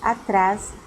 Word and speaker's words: atrás: Atrás é uma oxítona. Por quê? Se eu estou trabalhando a classificação das palavras com a sílaba tônica, eu tenho que lembrar das oxítonas, paroxítonas e proparoxítonas, certo? E eu digo que essa palavra é uma oxítona por quê? Porque a acentuação, a sílaba tônica, ela está na última sílaba, tá?